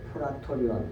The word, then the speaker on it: 프라토리온: 프라토리온 이렇게 발음해야 되는데 우리 성경이 브라도리온이라고도 나와 있잖아요.